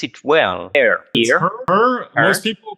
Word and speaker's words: Herr: Do I pronounce it well? Herr.